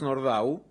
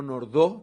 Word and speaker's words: Nordau: de Nordau, que es, digo Nordau, no Nordau, porque no era un nombre francés, viene más bien del polaco en la pronunciación, que sobresale por el rechazo que genera esta estupefacción.